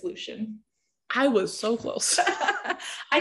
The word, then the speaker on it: Lucien: how okay how would you pronounce l-u-c-i-e-n that leucine lucian i believe it's lucian i was so close i kind of go